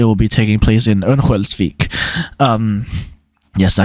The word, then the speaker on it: Örnsköldsvik: It will take place in Örnsköldsvik. That's how you pronounce it.